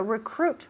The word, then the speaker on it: recruit: So recruit, recruit. Está I, that I there no sirve para nada. So don't pay any attention to that I. It's almost completely silent. It is silent.